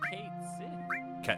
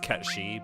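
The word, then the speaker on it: Cait Sith: Who's Kate Sid? It's pronounced Ketshi, but he's Ketshi.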